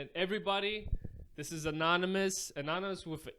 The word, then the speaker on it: Enonomous: African languages so what how do you say now you heard it many times before as mad guys like I said before this is anonymous thanks for coming down